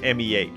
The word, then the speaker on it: me: use the word me spelled like the spanish m e but pronounced like meh me if you're answering